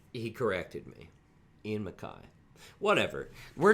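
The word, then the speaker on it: Ian MacKaye: through most of my life thinking it was ian mckay don't think it matters how you say his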